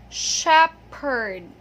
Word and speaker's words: shepherd: Okay, one more time, shepherd. Okay, so this is not an F sound, because what's tempting here